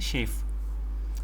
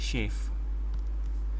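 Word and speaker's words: chafe: इसको प्रोनाउंस कैसे करते हैं? शेफ, जैसे सेफ होता है ना, तो ऐसे ही शेफ, ठीक है।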